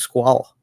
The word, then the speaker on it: Squale: this Squale pronunciation, but I've heard it's supposed to be pronounced squall. Really? But I think TGV has made it Squale, and I think even Squale pronounces it Squale now. Oh, really? Wow. But I heard it was like shark in French. Oh, squall or something.